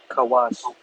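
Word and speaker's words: כוש: Kawash. Kawash. Exactly. All right. So, Ethiopians in Hebrew is kawash.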